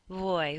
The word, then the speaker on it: voy: say it in English it's not like in very where your teeth hit your lips um it's more of a sound where you keep your lips um slightly apart from each other so if you're conjugating ear it's sort of like a soft be you don't want your lips to push against each other like when we say bees either you don't want it to be like boy your lips barely touch each other voy vas pas vamos